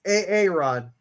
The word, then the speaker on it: Aaron: Pronouncing it wrong. It's Aaron.